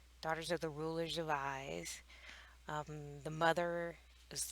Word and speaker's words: Ys: daughters of eyes so i think it's pronounced eyes even though it's y s did some googling pretty